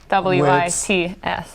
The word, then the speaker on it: Hladkowicz: spelled phonetically. Ladkowicz.